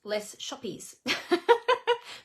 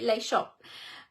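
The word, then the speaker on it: Les Shoppes: go fishing lay shop I always have to check how I say that because it's spelled like if we were to say it how it's spelled in English it's less shoppies it's actually lay shop um masterfully made stargazing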